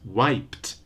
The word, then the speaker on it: wiped: left and so on a typical mispronunciation by Brazilian Learners is to add an extra syllable and say things like y page leakage levage and so on no extra vowel no extra syllable for the verbs in